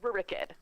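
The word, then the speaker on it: Rurik: Rebecca Dynasty it's not very kid as everyone pronounces it it's Rick ed that's how I always thought it were an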